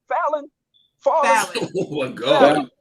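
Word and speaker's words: Falynn: Hey, how you pronounce the wife's name? Fallon.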